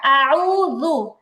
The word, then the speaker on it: أعوذ: أعوذ بالله من الشيطان الرجيم আচ্ছা, উচ্চারণটা আউযু হবে না, আউযু। আউযু, জাল পেশ যু।